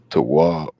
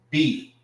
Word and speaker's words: Tawab: Tawab is spelled Tawab. All right. That is Tawab. Tawab. All right. This is Ta. And this is Wab. This is pronounced together, and this is pronounced by itself. Ta-wab.